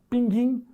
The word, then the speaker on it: pinguim: aqui ó pinguim o pinguim também tinha trema não tem mais andar por causa disso vai pronunciar pinguim Ah eu vi um pinguim pinguim continua a mesma pronúncia a outra exemplo linguiça